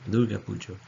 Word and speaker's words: Durga Puja: and modern ideas, and that's known as the Durga Puja, or Durga Puja, as it's pronounced in different parts.